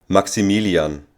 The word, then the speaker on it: Maximilian: German native speaker will say the name Maximilian Maximilian and now how would be max pronounced max and the second most used name